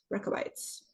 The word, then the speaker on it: Rechabites: The Rechabites.